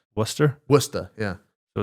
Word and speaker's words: Worcester: I've never had is it was it Walkers had like Worcester crisps or something? I think everything has it. Also, you pronounced it wrong, but that's okay. you pronounce it? Worcester. Worcester? Worcester, yeah.